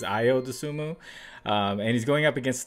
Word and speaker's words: Ayo Dosunmu: In this first pick, I noticed I pronounced his name wrong. I said Ayo Dosunmu last time. I believe it's Ayo Dosunmu.